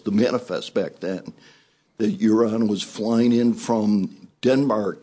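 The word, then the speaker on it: Joran: Uran or Urine? I think you called him Uran, but it's pronounced Uran.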